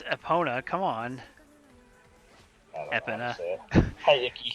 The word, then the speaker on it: Epona: horse hey horse EPA name your horse EPA it's Epona come on I hi